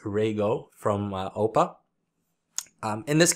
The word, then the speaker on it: Rego: or Rego it's it's spelled REO but it's pronounced Rego from Opa um in this case I opted